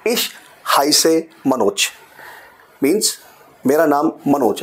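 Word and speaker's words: Ich heiße: इश हाइसे, अब प्रोनाउंसिएशन क्या है? हाय से। अब बोलोगे कैसे इसको आप? यू कैन से हाय, हाय एंड से, that's the pronunciation.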